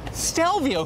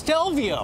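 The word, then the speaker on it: Stelvio: it's the Alfa Romeo what how do you pronounce this dalvio stell vo yes tell vo that's right al Trapani austell vo now here's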